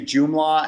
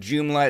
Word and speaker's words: Joomla: but ultimately we decided to use joomla as our sort of content management system and